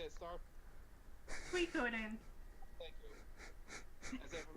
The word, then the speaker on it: Suikoden: Suikoden.